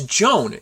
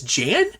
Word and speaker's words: Jan: I could have sworn it was Joan. That's why I was like, let me make sure. It's like, no, it's Jan.